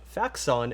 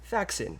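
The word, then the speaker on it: Faxon: as a side note i have been yelled at for my pronunciation of facts on enough that this is me hereby acknowledging that i'm wrong it's actually pronounced faxin please forgive me and my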